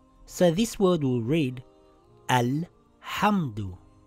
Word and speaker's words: الْحَمْدُ: So this word will read Al-Hamdu. I pronounce the Hamzatul Wasl with a vowel.